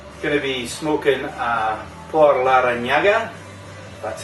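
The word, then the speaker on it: Por Larrañaga: Tonight we're going to be smoking a Por Larranaga.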